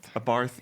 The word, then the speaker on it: Abarth: It's not Barth. a barth. It's a barth. It's a barf. A barth. A barth. A barth. Sounds like you're saying barf.